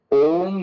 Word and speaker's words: ओम: देखिए ओम में तीन प्रकार के शब्द हैं। ऐसे आ उ और म आ, उ और म मिलकर के ओम बनते हैं।